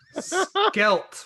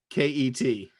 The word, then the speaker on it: Selket: Skelt will be probably fine. Skelt. Skelt. Yeah. Skelt? Spell it.